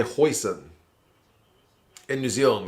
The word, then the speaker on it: Hussein: The New Zealand commentary team was calling him Hoyson, but apparently he tells people to say it Hoyson because that's the closest he can get in New Zealand to people saying it right.